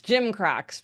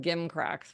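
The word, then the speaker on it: gimcracks: It's gym cracks, people, not gim cracks, which is what I'd been saying.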